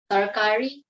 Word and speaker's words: tarkari: First, how do you properly pronounce what you're going to teach me? Tarkari.